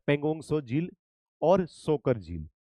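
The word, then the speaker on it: Pangong Tso: पेंगोंगसो झील। इसमें T silent होता है। पेंगोंगसो झील और सोकर झील।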